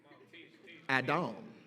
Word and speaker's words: Adam: desire was for adam adam that's that's how it's pronounced in the hebrew it means red man